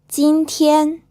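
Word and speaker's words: 今天: literally means long river Xin Tian this is pronounced with two first tones it means today bei deal this is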